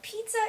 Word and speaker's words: pizza: It's not pizza or it's not pizza. It's pizza, pizza, z. It's the Z sound, all right?